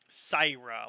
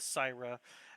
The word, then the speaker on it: Syra: start off with uh sarah sierra or syrah how are you pronouncing that why cyra let's start off with saira as you are heading